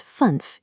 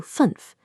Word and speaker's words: fünf: This turns funf into fünf.